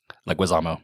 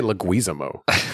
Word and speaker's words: Leguizamo: Say his last name for me. Leguizamo. Leguizamo. Oh, yeah, John Leguizamo. Why do I want to say Leguizamo? I don't know. That sounds more Italian.